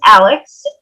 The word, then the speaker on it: Alyx: everyone um as chris mentioned my name is alex as you can tell from my little um square on our zoom it's spelled a l y x um so i